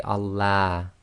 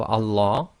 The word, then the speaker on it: Allah: pronounced the first one if the word before the word name of Allah it has a Khasra sound ie the last sound before the name of Allah is going to be a casserole then we're going to pronounce the Lamb of Allah in a light fashion ie terapy so that's